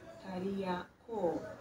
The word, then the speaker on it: Kariakoo: Jina hilo la maaskari wabeba mizigo katika Kiswahili lilitamkwa Kariakoo na liliendelea kutumika kama jina la eneo lote linalozunguka jengo hili la soko la Kariakoo.